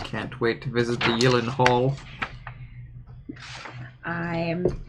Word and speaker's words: Gyllencreutz: yelen hall i'm spelled it is spelled like elon hall except instead of hall it's kreitz i am spelling it as how i can pronounce it or else it will be mispronounced call it jake jake